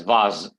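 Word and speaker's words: vase: you pronounce it as vas okay V A Z like V yeah v v z sound okay v v v instead of s you need to pronounce it as Z Zed v z okay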